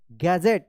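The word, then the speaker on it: gadget: डी जी ई टी डी जी एक साथ है तो ज उच्चारण होगा गैजेट क्या पढ़ेंगे इसको गैजेट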